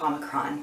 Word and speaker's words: omicron: oh my cron okay well it's actually pronounced omicron but um seriously the omicron variant sounds like